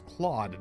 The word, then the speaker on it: Claude: I hate that they pronounce it Clode. It's Claude, damn it.